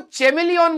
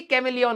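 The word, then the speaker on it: chameleon: वही मैंने सीख लिए वो चमेलियोन बोलती थी भाई दुनिया आज तक मेरा मजाक बनाती है कैमलिन होता है मैं कहता चमेलियोन होता है क्योंकि एच आता है माइटोकांड्रिया यह सीखा हमने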